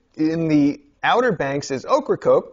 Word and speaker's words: Ocracoke: The island we visited in the Outer Banks is Ocracoke, pronounced like the vegetable and the diet beverage that shall not be named until sponsorship ensues.